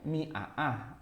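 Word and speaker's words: مائة: Tapi karena kita sudah terbiasa sejak dulu menuliskan atau membaca kata mi'ah itu mim ada alifnya, ya udah begitu aja. Mi'ah kita bilang.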